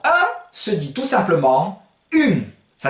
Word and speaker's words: un: Alors, un se dit tout simplement une. Ça s'écrit pareil, mais vous vous souvenez de la leçon sur la prononciation. Vous faites ung et vous enlevez le G au dernier moment, ce qui va donner une.